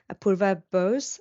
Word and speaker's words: Apurva Bose: Today we've got Apurva Bose. Am I pronouncing that correctly?